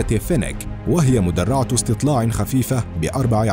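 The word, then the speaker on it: Fennek: فينيك، المركبة الألمانية الخفيفة، ويعني اسم هذه المدرعة أحد أنواع الثعالب، وتلفظ باللغة الألمانية فينيك، وهي مدرعة استطلاع خفيفة بأربع عجلات تنتجها الشركة الألمانية بالشراكة مع شركة أنظمة مركبات الدفاع الهولندية كراوس مافاي فيخمان.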